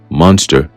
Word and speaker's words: Munster: a guy called Vincent Munster, all right, even though it's spelled with a U instead of an O, we understand that it's more of a play on words. All right, it's pronounced the same, so it carries a